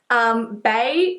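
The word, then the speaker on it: Baies: So this is the Diptyque Bae Candle, so not B-A-E, it's B-A-I-E-S, it's spelt.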